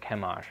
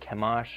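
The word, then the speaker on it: Chemosh: put down the moabites the vowels added to the make the word kemash are the same as the word for stench the original vowels of the deity's name would have meant it was actually pronounced something more like kamash or kamas the inference is clear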